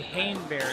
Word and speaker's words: Haneberry: I simply because uh my last name of course is Hannah Berry it's actually haneberry filling it spelling it